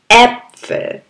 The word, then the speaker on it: Äpfel: D Apple D Apple এই এ দুই ফুটওয়ালার শব্দটা একটু ভর দিয়ে উচ্চারণ করতে হয় যেমন আমরা আ বলেছি আ ভি ডি আনানাস এটা আসলে এ ভি ডি Äpfel.